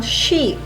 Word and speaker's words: she: Luego tenemos el pronombre personal she para el femenino. ¿Okay? Lo pronunciamos de esa manera. She. Cuando estamos haciendo sh de silencio.